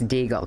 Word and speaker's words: Deigl: are joined by Karen Diegel Karen is that how you spell how you pronounce your name yes you pronounced it perfectly it's deagle correct Karen Diegel you're the